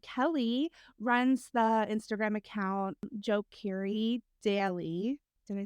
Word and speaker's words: Djo: it pronounced is it de Joe or Joe Joe I think he said it's just Joe just Joe the D is silent all right good to